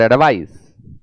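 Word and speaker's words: advice: noun होता है एडवाइस उच्चारण में भी अंतर है एडवाइज और एडवाइस तू कहा की भाई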